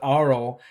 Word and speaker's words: aural: that aspect of it not oral but aural aspect of the attractions it